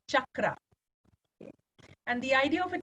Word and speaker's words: chakra: is the word chakra it gets pronounced in many different ways but the Sanskrit way of saying it is chakra and the idea of